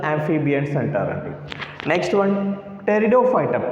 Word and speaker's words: pteridophytes: amphibian centauri next one pteridophyta p is silent here p is silent pteridophytes this is a first